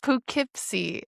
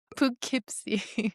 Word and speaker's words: Poughkeepsie: Poughkeepsie. Oh my god. Poughkeepsie. I think you're putting too much emphasis on the poo. Just let it roll off your tongue. Poughkeepsie.